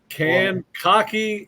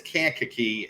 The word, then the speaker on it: Kankakee: tackle in America from can cocky Illinois that's that's listen it's Kankakee and my wife my